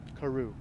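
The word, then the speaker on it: Courrau: I'm pronouncing it Carew.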